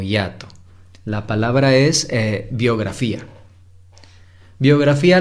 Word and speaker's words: biografía: Biografía la separamos así. Biografía. Son 4 sílabas.